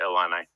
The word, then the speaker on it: Illini: The proper pronunciation is Illini.